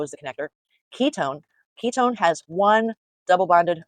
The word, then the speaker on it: ketone: Now we pronounce it own, you know, like you own something, but it's spelled one.